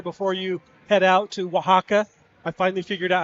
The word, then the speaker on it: Oaxaca: This could be our final game together before you head out to Oaxaca. I finally figured out how to say it. It's okay. No one really can say it right. So Mexico, Oaxaca.